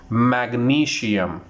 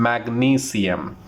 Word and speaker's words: magnesium: The second one is magnesium. Again, it's incorrect. The correct pronunciation, magnesium. The correct pronunciation is magnesium.